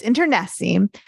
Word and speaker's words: internecine: I thought it was like nectarine, but it's internecine.